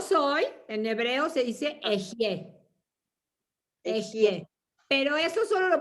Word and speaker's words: Ehyeh: Pero escucha cómo se pronuncia. Como si fuera E-J-Y. Ehyeh. Ehyeh, ok. Así se pronuncia, Y ¿no?